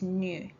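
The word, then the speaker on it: 入: Okay, when you combine it with another kanji, it's pronounced as nu.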